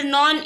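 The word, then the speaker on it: known: और क्वेश्चन 10 है the silent letter in the word नॉन इज तो नॉन में क्या साइलेंट होता है तो के साइलेंट होता है तो आप लोग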